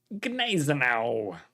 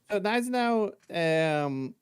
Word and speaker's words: Gneisenau: Gneisenau. Germans, how do you pronounce this boat? People say Gneisenau. People say Gneisenau. Yeah. Gneisenau? Yeah. The G is probably like not very loudly pronounced. Just a little bit.